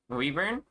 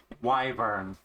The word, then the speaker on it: wyvern: I forgot how to pronounce uh Weburn. Wyvern. Is it Wyvern? I don't know. She's killing me. Help. Wyvern.